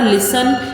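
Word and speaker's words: listen: pronounce कर रहे हैं जब हम लिसन को बोल रहे हैं तो ऐसा कोई अल्फाबेट है जो इसके अंदर स्पेलिंग में तो है लेकिन जब हम उसको बोल रहे हैं जब हम उसको प्रोनाउंस करें तो उसका साउंड ना आ रहा हो अब आप बोलोगे यहां पे टी का साउंड है लेकिन जब मैं बोल रही हूं तो क्या टी का साउंड आ रहा है क्या हम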